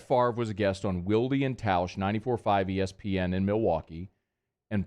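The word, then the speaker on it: Wilde & Tausch: the name of this radio show please it's pronounced wildy and taush wildie and tausch wieldian tauscher um just a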